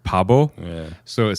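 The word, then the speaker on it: 바보: So in Korean, I'm going to pronounce this incorrectly, but I'll do as close as I can. It's like Pabo.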